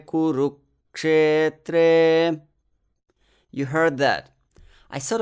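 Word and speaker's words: कुरुक्षेत्रे: Then the same thing with kuru. I cut the syllable ru and inserted a similar short pause. Kurukshetre.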